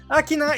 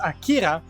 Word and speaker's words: Akina: Akina is mispronounced as Akira, and the speed stars are reduced to just one speed star.